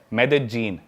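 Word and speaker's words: Medellín: उसकी एक सिटी है मेदजीन। स्पेलिंग में उसमें डबल एल आते हैं। मेदलीन होता है। लेकिन कोलंबियन स्पेनिश में ल को ज बोलते हैं।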